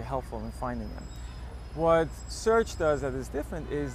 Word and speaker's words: Cearch: He calls it Search, spelled with a C.